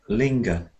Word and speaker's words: linger: And here we've got it the other way, linger. Linger.